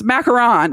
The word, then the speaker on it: macaron: was like you Hicks that's not how you say it it's macaron and they were like are you sure and I was like no so I pulled up um the Wikipedia on how to pronounce macaron and I'm doing it with an American accent it's actually like ma like like a you do it with it's like the president of France yeah uh so I